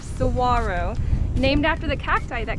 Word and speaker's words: saguaro: case you didn't know that's how you pronounce that word right there saguaro named after the cacti